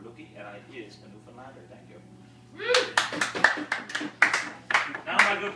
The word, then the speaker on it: Newfoundland: And it's pronounced Newfoundland! Not Newfoundland or Newfoundland.